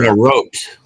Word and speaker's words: garrote: The Garrett wire. That piano It's wire. a garrote.